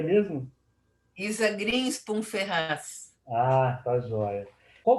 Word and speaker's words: Grinspum: Está correto a pronúncia do seu sobrenome? Como é que é mesmo? Isa Greenspan Ferraz.